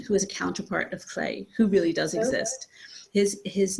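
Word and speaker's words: Lleu: And their names are Clay, which is how you pronounce his weird Welsh name, because he's based on Welsh mythology, and Gawain, his twin sister.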